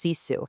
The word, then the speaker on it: sisu: It's pronounced cisu.